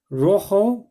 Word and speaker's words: Rojo: day which is green Rojo which is red now you'll notice it's actually a J but in Spanish you pronounce it as a like a ha sound so well you see